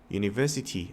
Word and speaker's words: university: 이 스펠링에 집중하지 마시고 소리에 집중해 주세요. 자, 그렇다면 대학교라는 단어, university 앞에는 어가 맞을까요?